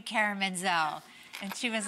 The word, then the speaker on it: Menzel: for a stage name, I thought Menzel would be pronounced easier than the T. Plus, it was people would say Mentzel, like mental and pencil.